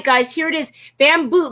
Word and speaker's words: Bambu: Bamboo, but it's spelled B-A-M-B-U.